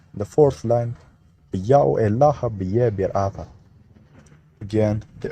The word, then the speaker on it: Yao: The first glyph is read as Ya. The next glyph is a vowel placeholder, only treated as silent, and the terminal W is a matter O vowel. Thus, it's read as Ya-O.